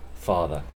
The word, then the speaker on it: farther: Okay, farther means more far, which we only use to talk about distance. Okay, it means more far, farther. It has the same pronunciation as the word father, père, in English.